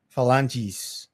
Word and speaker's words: phalanges: long and has 6 phalanges. That's what it, that's how you say it, phalanges? Sí, correcto. Yeah, you're right.